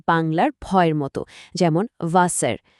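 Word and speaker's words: Wasser: যেমন ডাব্লিউ এর উচ্চারণ হয় ইংরেজির ভি বা বাংলার ভয়ের মতো, যেমন ভাসার। জে এর উচ্চারণ ইয়ার মতো, যেমন ইয়ার।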